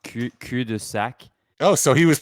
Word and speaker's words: cul-de-sac: Do you know that the word cul-de-sac in French is pronounced cul-de-sac? Oh, so he was pronouncing it right. He was pronouncing it the French way.